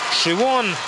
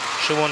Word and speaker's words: Siobhan: совершенно нечитаемым именем, которое произносится как Шивон, Шивон Хикин Кеннеди и Дмитрий Дунь.